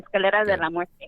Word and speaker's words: Escalera de la Muerte: Spanish, so I say it properly. Escalera de la Muerte.